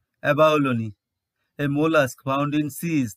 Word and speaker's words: abalone: Again, its final E is pronounced as E, abalone.